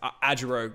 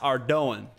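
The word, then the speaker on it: Ardougne: as a kid that's how I used to pronounce it it's AOG me and my brother like AOG but we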